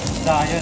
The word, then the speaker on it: Zaya: What's the proper pronunciation of the name of your restaurant? Zaya, 1943.